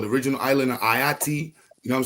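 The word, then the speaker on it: Ayiti: The original island of Ayati, how you say Haiti, but with the A.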